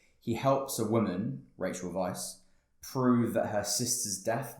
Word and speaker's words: Weisz: Obviously, you've got Keanu Reeves, Rachel Weisz, is that how you pronounce her name? Yeah. Weisz.